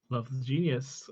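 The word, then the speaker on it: 7xvethegenius: you found out yesterday how we should be pronouncing the name of the other artist on this track, and it is Love the Genius after much debate. spelt with a 7 and an X at the start there.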